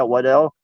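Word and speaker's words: Weidl: My candidate for our new GM would definitely be Andy Waddell. What Weedle? Is that how you say it? Our head coaching scout? Yeah, Waddell.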